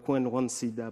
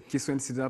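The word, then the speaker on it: Kiswendsida: Bonsoir, Kouenouane Sida. Bonsoir, j'ai bien prononcé votre nom? Oui, c'est Kiswen Sida.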